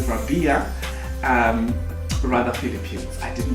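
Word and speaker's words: Rabiya: is rabia radha sorry i always always always pronounce the name wrong and which is i just get enough of it because it's not right i know it's rabia but i've got that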